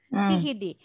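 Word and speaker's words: GGD: Hihidi. Hihidi, but we call Hihidi. So if you want to pronounce gay in Netherlands, will be he.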